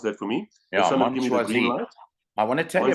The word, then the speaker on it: Mon Choisi: You can pronounce that for me. Yeah, Mon Choisi.